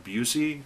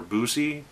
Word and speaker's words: Buse: discussing this is Busey or busi I believe is how it's pronounced not bus but Lucy and this could be